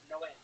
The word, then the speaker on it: Noé: Like in the Bible, the Spanish translation, it's Noe is Noah, but it's pronounced Noé.